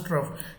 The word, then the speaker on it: trough: to a feeding trough this word is pronounced as trough t-r-o-u-g-h and the monkey looked